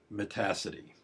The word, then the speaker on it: Metacity: window manager known as Metacity. I know it looks like Metacity, but it really rhymes with the word capacity.